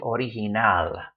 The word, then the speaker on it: original: So it should be original, with the stress on that last syllable, original.